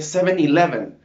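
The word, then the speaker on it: 7-Eleven: en cómo se pronuncia he escuchado muchas personas que dicen se llamen lb y no se dice seven-eleven esa es la pronunciación correcta dentro de lo que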